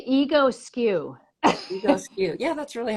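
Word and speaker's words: Egoscue: You could say ego skew.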